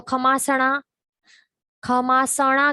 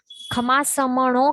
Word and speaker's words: खमासमणो: तो इसमें कई जन मिस्टेक करते हैं, क्या करते हैं कि खमासमणो है तो खमासणा कहते हैं, म उसके अंदर है वो उड़ा देते हैं, म नहीं कहते हैं, म का उच्चारण नहीं करते, वो गलत हो जाता है। खमासमणो कहना चाहिए।